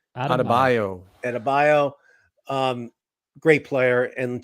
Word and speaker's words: Adebayo: casey how do you say his last name adebayo adebayo um great player and just like jimmy